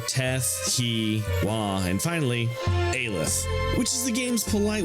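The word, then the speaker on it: Aleph: armless up through te he wah and finally alith which is the game's polite way of I pronounce it as alf saying your facility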